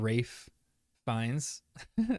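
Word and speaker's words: Ralph Fiennes: such a fan of rafe Vines pronunciation is correct I am such a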